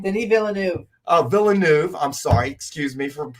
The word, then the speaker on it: Villeneuve: Anything by that guy Villanueva or what's his name? Denis Villeneuve. Oh, Villeneuve. I'm sorry. Excuse me for mispronouncing his name.